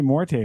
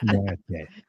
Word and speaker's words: Morte: I don't even say Morte right. I've been saying Mort the entire time. Because she says Mort. So say it right. Morte.